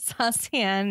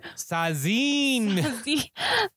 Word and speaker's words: Sascienne: It's at Saucian. It's however you want to spell it. No. If it's on Twitter, it's very specific in the spelling. S-A-S-C-I-E-N-N-E. Yeah, I think Justin Robert Young pronounced it Sazine.